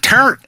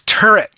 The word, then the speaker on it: turret: No, it is not turnt. I don't know why you say turnt. People, is that how people say that in New Jersey? No. Is it turret? Turret? No, it's turret. Turret. It's a turret.